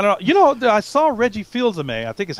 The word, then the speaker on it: Fils-Aimé: I saw Reggie Fils-Aimé. I think is how you pronounce his last name.